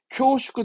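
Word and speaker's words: 恐縮: 이건 우리말이 없어서 공축이라는 건데 발음은 쿄슈크합니다. 쿄슈크. 쿄슈크 데스 하면서 뭔가 이 공축이라 하면 우리말로 뭐라 할까?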